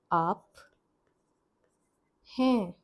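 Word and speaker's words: आप हैं: This pairing is up he up he is nasal here.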